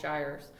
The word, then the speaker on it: gyres: huge subtropical whirlpools called gyres rhymes with tires one the north pole